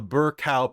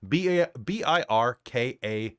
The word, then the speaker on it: Birkau: that guards the Tehuta approach, now called the Birkau Pass, which is much easier to pronounce. B-I-R-K-A-U.